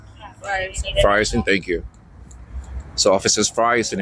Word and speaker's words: Frierson: Frierson, thank you.